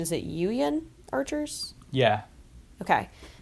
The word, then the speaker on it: Yuyan: While returning to his friends, he is attacked and captured by the, and correct me on the pronunciation, is it Yuyan archers?